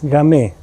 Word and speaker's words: Gamay: Es un vino rosé fino, seco, de la uva Gamay, cuya pronuncia es Gamay.